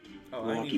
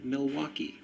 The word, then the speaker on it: Milwaukee: back of it though the origin of the city name milwaukee actually is pronounced miliwa which is algonquin for the good land thank you very much